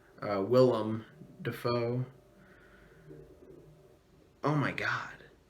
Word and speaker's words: Willem Dafoe: Robert Pattinson and William, why can't I say his name? Willem Dafoe.